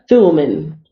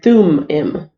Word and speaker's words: Thummim: this uh Bible dictionary Orem and sulaiman oh I'm pronouncing it wrong is your room your room and through him okay you men you